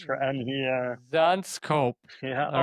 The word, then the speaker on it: Zandschulp: BK fun scope. It's Zans scope. Probably really hard to pronounce for any Zanscope.